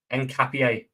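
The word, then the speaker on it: Hincapié: Ian Capier. Is that how you say it? Encapier.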